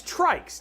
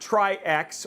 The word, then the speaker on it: TRYX: So and and confirm right Juno it is trikes. TR R YX trikes like a tricycle and not trix or trikes.